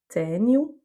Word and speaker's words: tenho: Et ça me fait la transition vers le cas de figure suivant avec le O qui est en fin de mot, et qui va donc se prononcer OU. On a par exemple tenho, j'ai, quero, je veux.